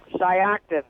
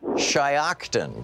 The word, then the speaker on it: Shiocton: Nettie in how do you pronounce that town in Wisconsin? Shiocton. Shiocton.